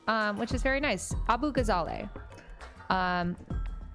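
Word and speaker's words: Abughazaleh: Abu Gazal. Um, there are a bunch of different ways to pronounce this. I don't speak Arabic, so I uh we always in my family pronounced it Abu Gazale.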